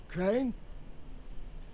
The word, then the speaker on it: Crane: my name is crane crane crane rhymes with train and brain and sane and crane and rain and plane and the other kind of plane and and how